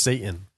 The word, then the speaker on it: seitan: I agree with you it's pronounced Satan but this mushroom jerky